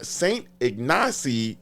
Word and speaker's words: St. Ignace: And they set out with a whole bunch of people from St. Ignace, Michigan.